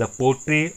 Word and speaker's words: portrait: का नाम है द पोट्रेट आफ A lady हैं कि आप इसे देखिए ध्यान से लास्ट मिलती है जो कि साइलेंट रहेगा और इसे पढ़ा जाएगा पोट्रे थे थे जट्ट का